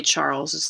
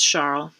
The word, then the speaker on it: Charles: And of course, most people don't use the French pronunciation. They just would say Charles' Law, but it's Charles.